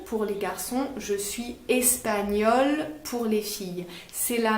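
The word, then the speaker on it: espagnole: les garçons je suis espagnol pour les filles c'est la même prononciation espagnols espagnols mais à l'écrit on rajoute un e pour les filles voilà mais ça ne s'entend pas comme souvent en français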